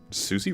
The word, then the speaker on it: Susie: Yeah, Susie. Her birth name Susanooo. So, it's officially pronounced Susi.